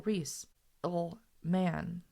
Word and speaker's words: Rieselman: Carl Rieselman, phone number Hatboro 97J2. That is pronounced as though it were Carl Reese, man.